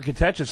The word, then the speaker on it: Catechis: Catechis.